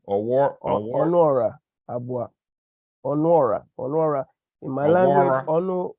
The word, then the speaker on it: Onuora Abuah: How you pronounce the name? Onuora, Abuah.